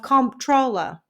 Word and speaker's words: comptroller: His career appearing to be on the up and up, by 1965, John got a job of comptroller, not to be confused with controller.